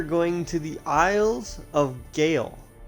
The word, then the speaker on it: Sgàil: to the isles of gayle yes the s is silent that is gail to eliminate sisters zoey